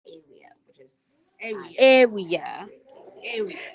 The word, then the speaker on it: Awia: Hi, my name is Awia. Area. Yes. No. No. Okay, it's area or it's Area or it's Awia, which is area. Area. Kind of like area, but with an E.